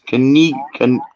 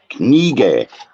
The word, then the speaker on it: Knigge: It's Knigge. Knigge. Knigge. Knigge. Oh, I'm going to pronounce that one.